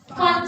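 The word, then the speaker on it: Pfund: Brackets and fun series. This P is not pronouncing. Again, brackets and fun series.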